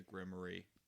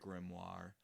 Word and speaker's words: grimoire: you had both the grimy grimoire grimoire sorry Wicked has warped my pronunciation the grimoire and the